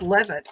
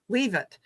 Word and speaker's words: Leavitt: And it's funny because when her last name it's pronounced Levitt, I think, but it is spelled Leavitt, which I would say was leave it.